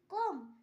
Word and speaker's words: comb: কোম, COMB কোম, এখানেও বি এর পর ভাওয়েল নেই তাই বি এর উচ্চারণ হয়নি।